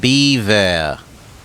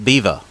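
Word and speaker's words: bevor: Pronounced beaver. Okay, like the animal. Fair enough. Not bever, beaver.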